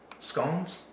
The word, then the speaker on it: scone: you that try it scones we say scones but we say scones because we're American but correctly I believe it is rhymes with God scones scones we learned